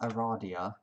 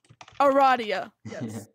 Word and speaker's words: Aradia: that's perfect ah I need two more yep Aradia okay oh this is pronounced Aradia Aradia it has been confirmed in pester quest yes